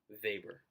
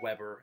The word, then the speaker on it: Weber: It's pronounced Weber. Every year I get someone saying Weber, and of course, um, that's how it's spelled, so it's easy to make the mistake. It's a German surname, so yeah, Max Weber.